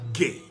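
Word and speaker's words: γῆ: then there's the word gay uh it's g e but it's pronounced gay g-h-a-y gay when you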